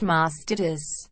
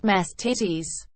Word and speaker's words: mastitis: Epsom salt baths and it's pronounced mastitis not masked titties Lowell holy orders otaku